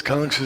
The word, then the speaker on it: Kansa: It's spelled the same way, K-A-N-S-A, Kansa. You heard of Kansas City? Kansas City? Kansas City. We live there. So this is Kangsa City. But originally it wasn't Kangsa City.